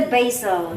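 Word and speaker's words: Basel: you is that the Box this is the basil basil you call it the basil we call it yeah basil Switzerland what they call it basil in Switzerland as well no there's a is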